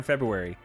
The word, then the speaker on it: February: the r yeah I I actually do pronounce the r in February February Feb Feb I